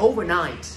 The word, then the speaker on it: overnight: Nhưng mà đúng của nó, cái từ này có hai trọng âm, là rơi vào âm tiết thứ nhất và âm tiết thứ ba, âm tiết chính của nó và âm tiết thứ ba, phải là overnight, được chưa bạn?